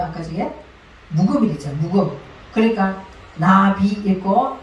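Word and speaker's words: נביא: 그러니까 나비 읽고 뒤에 나오는 알레프는 발음을 안 하는 거예요.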